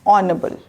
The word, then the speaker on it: audible: Audible, we are supposed to pronounce as audible. Aw. Aw is there. The sound is aw.